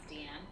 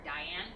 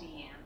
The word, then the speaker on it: Diane: It's like my character in Seven Deadly Sins, Deanne. Like, mm-hmm. lately, because other people call her Diane, and that's how the American way right, of pronouncing it. I've been calling her Diane lately, even though we recorded it as Deanne.